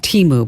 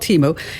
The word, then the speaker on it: Temu: It's pronounced Temu, by the way. Oh, okay. That's all right. It's called Temu, and it collects a lot of information.